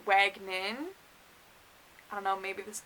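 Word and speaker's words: Wagenen: her name my event wagoner i don't know why i thought that it's wagnin i don't know maybe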